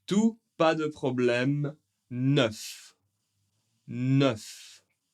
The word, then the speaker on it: neuf: Celui-ci, on prononce tout, pas de problème, neuf. Neuf. Le E et le U font le son e. E. Neuf. ? Un peu comme œuf.